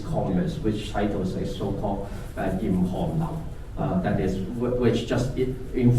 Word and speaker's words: Hallyu: That is, if in Hangul, the writing form is just pronouncing as Hallyu.